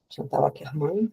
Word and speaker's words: Chantal Akerman: Organizei o catálogo durante uns anos, depois propus uma amra de uma cineasta chamada Chantal Akerman. Chantalerman para alguns que preferem a pronúncia francesa.